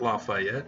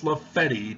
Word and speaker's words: Lafayette: You know, in New York, the street name Lafayette is not Lafayette, it's Lafetti to the people who live there on that block. I was sorely chastised when I called it Lafetti.